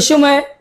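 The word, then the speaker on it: ث: আপনাকে খেয়াল রাখতে হবে জিহ্বার আগা এবং দাঁতের আগা দুটি লেগিয়ে দিয়ে তারপরে উচ্চারণ করতে হবে সা বলুন সা আবার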